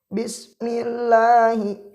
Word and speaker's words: بسم الله: Bismillahi, membacanya jangan bismi bismillahi. Nah, itu salah. Membacanya bismillahi.